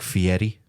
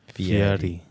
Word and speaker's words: Fieri: The way that I always explain how to pronounce it correctly is it's almost like the R becomes a soft D, like Fieri. Fieri. Like Fieri.